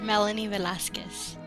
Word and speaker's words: Melanie Velasquez: Yes, Melanie Velasquez.